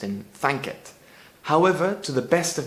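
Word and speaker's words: thankit: can translate to so let the lord be thanked and into spanish as asi que de mos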